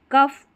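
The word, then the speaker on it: cough: फ उच्चारण होता है कुछ शब्दों में। जैसे यहां पर शब्द है कफ और इनफ।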